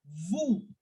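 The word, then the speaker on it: vous: and we will say formal way of you as woo woo again I am not making any sound of the S it is for decoration why we are not pronouncing s because c r f l doesn't have any s so yes we will keep the S silent like we have kept the T silent now again one of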